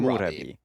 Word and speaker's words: Murabi: And that's I believe that would be pronounced Mu Murabi, Murabi. because like Murabi. it's like the old kingdom of Mu.